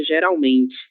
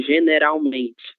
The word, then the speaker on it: geralmente: Eh, eu só peço atenção paraa palavra geralmente que você leu bem parecida com espanhol. Generalmente.